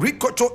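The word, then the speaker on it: Rikotso: Ricocho is spelled R-I-K-O-T-S-O. Ricocho.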